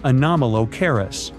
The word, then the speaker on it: Anomalocaris: The name is a bit tricky to pronounce, so I'm not going to. Okay, okay, it's Anomalocaris, but it just literally means unusual shrimp.